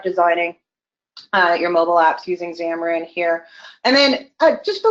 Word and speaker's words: Xamarin: feature coming here is xamarin X am a are and xamarin it is pronounced like a Z in the beginning but it starts with an X and that is really